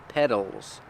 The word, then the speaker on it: petals: are petals that's right we spell it with a t but it's pronounced with the fast D sound D D D D petals petals the flower has